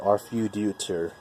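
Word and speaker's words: Arfeudutyr: 1 of Arfuditor, and yes, that is how you say it, Arfuditor.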